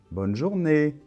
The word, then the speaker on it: bonne journée: bye bonne journée d'accord donc attention l'accent tonique est à la fin bonne journée donc voilà maintenant tu